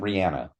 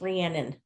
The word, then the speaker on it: Rhiannon: Well, this isn't Rihanna. No, it's Rhiannon.